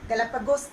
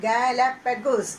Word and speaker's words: Galapagos: I shall tell the spelling: Galapagos, not Galapagos. Pronounce it Galapagos. Okay, the pronunciation is Galapagos Island.